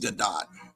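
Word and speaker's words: Gadot: g Gat yeah I remember supposed to be pronounced gdat I was wanting to pronounce it gal gdo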